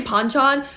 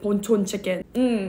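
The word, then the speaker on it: Bonchon: chicken some people say ponchon but in Korean it's actually pronounced ponon chicken and your girl's Korean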